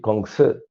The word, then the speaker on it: Kongzi: Confucianismo viene de Confucio, chino se dice Kongzi.